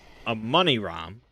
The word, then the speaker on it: Amani Ram: The big one being SCP-001 Amani Ram, which I've been told by Rounder House is pronounced Amani Ram, or something like that.